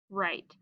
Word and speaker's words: right: So we have the letters W and R together, and we say So the W is silent. So we have I, t, word is right.